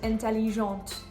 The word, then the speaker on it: intelligente: The same thing goes for the difference between intelligent and intelligente. When you have the E at the end of intelligent, then you can actually hear the T.